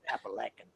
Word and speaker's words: Appalachian: Some guy said, that's not how you pronounce it. It's pronounced Appalachian.